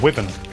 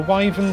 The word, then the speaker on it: wyvern: classified as bird wyvens i've heard some people pronounce it as weapon which is fine that's another pronunciation it's not the pronunciation i use and i should know because there's a theater near me called the wyven theater which i'm fairly certain does not have